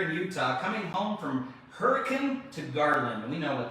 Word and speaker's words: Hurricane: It's not, when you're in Utah, it's not hurricane. It's hurricane. It's hurricane. That's right. You got to say it right.